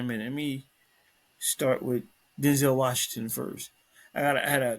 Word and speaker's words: Denzel: Technically, it's Denzel. He actually said his name is actually pronounced Denzel.